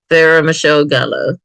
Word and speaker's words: Sarah Michelle Gellar: Oh, I cannot pronounce names today. Buffy the Vampire. How you say her name? Sarah Michelle Gellar.